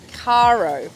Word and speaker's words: Caro: sailor girl on board Cairo is how we pronounce it for everyone who's been wondering I have with me